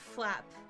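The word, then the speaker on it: Flazp: Before you press enter with Flap, put a Z right before P, just so the Z is silent. Okay. Z's at the bottom. Flap.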